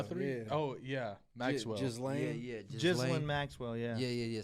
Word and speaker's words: Ghislaine: Jelaine? How do you say that? Maxwell. Guthrie? Yeah. Oh yeah, Maxwell. Ghislaine.